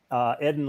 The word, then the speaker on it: Eden: But the right pronunciation for my name, it's Eden.